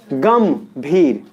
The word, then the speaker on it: गंभीर: तो ग के ऊपर जो बिंदी है उसमें प्रोनाउंसिएशन क्या रहा है? म का। क्या रहा है? गंभीर।